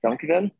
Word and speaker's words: dankjewel: And is it dankjewel?